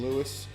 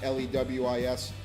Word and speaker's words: Louis: Lewis Band, for the record, my last name is spelled Louis, like the first name Lewis, and not Lewis, common mistake.